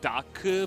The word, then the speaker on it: Dark: It's really like Daku, but it kind of sounds like Duck if they just say it quickly, or if you're not familiar.